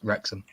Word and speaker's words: Wrexham: some yeah don't you don't pronounce the w just wrexham i've been watching um